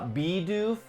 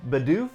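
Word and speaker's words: Bidoof: say them right uh bee doof a lot of people say badoof so you used to save the doof I know and once I learned the correct way to say it I'm still gonna say badoof I try to say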